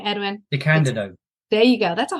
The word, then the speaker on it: DeCandido: Keith R.A., just pronounce his last name, Edwin. DeCandido.